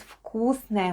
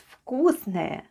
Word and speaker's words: вкусное: And altogether it's вкусное мороженое, which is Russian for delicious ice cream. Let's spell вкусное. The first letter is v, but it sounds like f in our case.